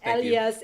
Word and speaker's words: Elias: i can pronounce your last name and i pronounce it right right yeah i've heard every which way so yes elias elias yes but anyways thank you so much